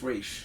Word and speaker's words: Ra's al Ghul: Well, according to the animated series, which is my holy Bible, I call it it's Raish. Raish, yeah. But they pronounce it Ra's in the movie.